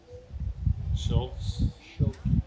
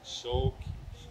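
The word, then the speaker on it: Schuelke: Okay, so Carl, I got to pronounce the last name. Schultz. Schulke.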